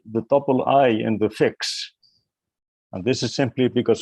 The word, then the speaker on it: Fiix: we are using but we pronounce it fix then there was a